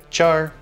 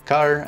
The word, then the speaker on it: char: They are represented by the word char or car. I've heard people use different ways to pronounce this word.